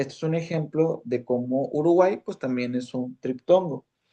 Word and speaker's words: Uruguay: Porque el sonido que se está pronunciando de la Y es el sonido de una I, ¿verdad? Entonces, este es un ejemplo de cómo Uruguay, pues también es un triptongo.